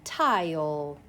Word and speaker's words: tile: My next word, T-I-O, tile. Long vowel, silent E pattern. Please write tile with your pencil. T-I-O, with that E at the end. One vowel, one consonant with an E at the end.